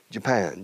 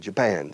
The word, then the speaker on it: Japan: Japan, Japan. Segunda sílaba, lleva la acentuación.